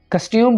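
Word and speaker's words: costume: I like his कस्ट्यूम, कस्ट्यूम बोलेंगे, कस्टम नहीं बोलेंगे।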